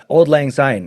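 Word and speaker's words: Auld Lang Syne: So that's Old Lang Syne. It's just spelled like in a German.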